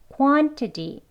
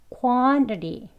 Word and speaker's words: quantity: 아까 제가 여기 보시면 이번에 quantity는 flap t가 두 개나 들어 있습니다.